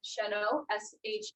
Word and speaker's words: Sheno: Pronounce Sheno, SHENO. N-O, okay. SH, I call it Shenna. So Shenna, and then I put in parentheses Sheno.